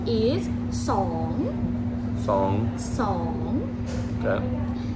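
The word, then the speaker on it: สอง: 2 is song.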